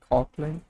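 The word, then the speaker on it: Kotlin: Cotlin. You got it. Coplan. It's pronounced co man it's cotlin like co as in cola cotland it's becoming languish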